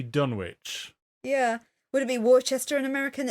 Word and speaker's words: Worcester: Would it be Worcester in American? It's Worcester in English. No. Like the sauce.